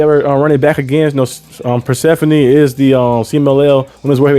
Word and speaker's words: Persephone: We also seen Persephone, I was saying her name wrong. Persephone, not Persephone. Persephone, kind of like the Greek goddess like that.